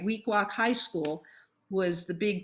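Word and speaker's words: Weequahic: make sure i try to say it right week walk high school was the big jewish high school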